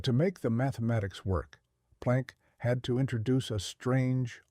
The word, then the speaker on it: Planck: In the final weeks of the year 1900, a German theoretical physicist named Max Plank, pronounced Planck, sat at his desk in Berlin, desperately attempting to fix the mathematics of the hot oven.